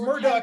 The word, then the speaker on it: Smurduck: I will Smurduck attempt- rhymes with Churduck.